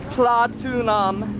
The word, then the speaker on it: Pratunam: what's a bit confusing about this place, because Pratunam is not platinum, but we call it platinum. And the confusion too is there's a wholesale mall over there called Platinum Mall, and we assume that Pratunam is just how Thais mispronounce platinum, but it's not.